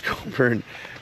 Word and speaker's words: Cockburn: Bruce Coburn. Bruce Cockburn. But Canadians pronounce this Coburn because they're so unsexual.